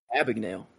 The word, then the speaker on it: Abagnale: Jordan Belfort and Frank how do you pronounce that? Abagnale? Abagnale.